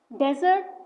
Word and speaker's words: desert: Desert with a single O means a dry sandy region. Stress the first part. As you can see the example, camels live in the desert.